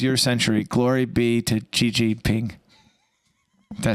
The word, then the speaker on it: Xi Jinping: Glory be to Xi Jinping.